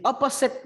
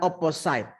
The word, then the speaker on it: opposite: reply suka tidak di opposite meaning opposit ya bukan opposite kalau website itu betul site Tapi kalau ini ini Adik mau cara membacanya adalah opposit opposit itu = n